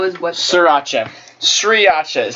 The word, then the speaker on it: Sriracha: But you're telling me all the R's are silent, and why are they there? Damn. S-R-I Sriracha. R-A-C-H-A. Racha.